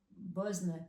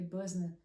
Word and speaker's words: Boesner: Aqui tem umas lojas, inclusive uma delas que eu acho bem legal que se chama Buzzner, se escreve Boesner, né? Nossa pronúncia, se não me engano, acho que é Buzzna.